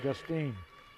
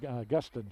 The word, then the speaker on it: Gustin: traveling violation on lauren justine excuse me augustine she pronounces augustine just like it looks g-u-s-t-i-n talked to her briefly